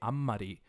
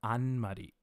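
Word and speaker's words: あんまり: you hear me say ammari and not anmari it's because I'm trying to mimic the pronunciation as a native person would say it alternatively just Amari don't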